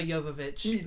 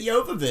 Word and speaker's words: Jovovich: Is it Jovovich? It is Jovovich. Oh, look at that. And if we were in Russia or Ukraine or wherever the hell she's from, that's how we would say it.